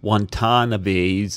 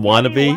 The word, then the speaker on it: Watanabe: And speaking of thought, you were the one that taught me how to pronounce Gades Watanabe's name. Oh, remember I called him Wannabe? Watanabe. Gedi Watanabe. Yeah.